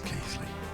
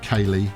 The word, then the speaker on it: Keighley: I went with Kaylee and indeed Keeley, and was met with derision in the comments from someone who kind of goes, it's obviously neither of those things.